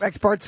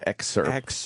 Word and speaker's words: excerpt: Experts are important to hear them talk. No, excerpt. You're saying it wrong, stupid.